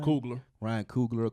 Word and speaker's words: Coogler: Coogler.